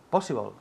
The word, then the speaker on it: possible: Possible. Good, repeat. Possible. Good. Possible. Possible. Énfasis en la primera sílaba.